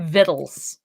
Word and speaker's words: victuals: pioneers just spelled it differently they spelled it phonetically fine great store of arms and vittles it just sounds weird it sounds stupid it